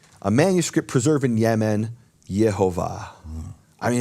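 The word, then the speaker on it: יְהֹוָה: And both of those dialects of Hebrew preserve God's holy name, the name of the Father, as Yehovah.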